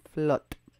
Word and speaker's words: Flotte: She pronounces the last name Flotte. I don't know if it's supposed to be Flotte or Flotte, but she pronounces it Flotte. So I'm assuming that's how it's pronounced.